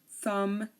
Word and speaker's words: thumb: the silent we have the limb num suum thumb tomb and womb we don't say Lim or